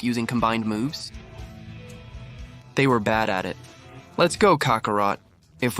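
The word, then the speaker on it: ベジータ: In Japanese, Vegeta is pronounced with a B sound instead of a V, resulting in bada.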